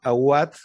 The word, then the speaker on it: Awad: Como les dijeron ahora, mi nombre es Aubat. No se pronuncia con B como en alemán, sino como en W como en español.